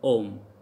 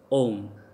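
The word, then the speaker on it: homme: H is never pronounced in French language. Like if H is starting in any word, that would be silent. Like for example, om. So how we call om? Because H is silent here, so om.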